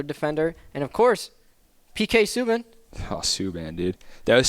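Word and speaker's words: Subban: and suban I can't am I saying his name wrong no you're saying it right suban s PK suban comes to Nashville best trade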